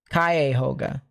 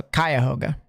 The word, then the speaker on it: Cuyahoga: I'm assuming it's Kai then. Kai, like it rhymes with the, you know, the greeting hi. Like, hello, hi. I'm hoping. I'm hoping it's something of the sort. It'll be fine. It'll be fine. It'll be okay. Yes, it rhymes with high.